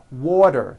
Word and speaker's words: water: Water is pronounced as water. The T turns into a D and the whole word is voiced.